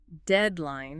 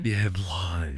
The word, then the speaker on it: deadline: Because of that intense meaning, we hit the first syllable very hard. Deadline. Deadline.